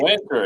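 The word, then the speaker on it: Wynter: one of them is Winter. Is that how you pronounce the name of the company? Winter, exactly.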